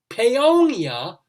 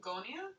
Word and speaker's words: Paonia: Paonia, Colorado. Pagonia? Not Pagonia. I'll spell it Paonia.